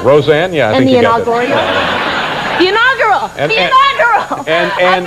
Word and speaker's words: Roseanne: the inaugural you'll kill them now did i pronounce that right roseanne yes the inaugural girl and mr roseanne and